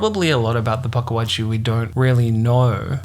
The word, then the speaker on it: Pukwudgie: the same thing yeah I thought it was Paka but because of the pronunciation it sounds like that but there's a missing letter in between so it's paji so paji oh but you see how when you say it like it sound pagi it sounds like there's